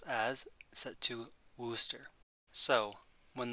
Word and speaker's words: Worcester: pronounce as set to wooster so when the word worcester is typed into the message window it will be properly pronounced as wooster worcester the video will